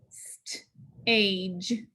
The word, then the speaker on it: stage: We have GE. So G sounds like J. Put a dot above it. Stage.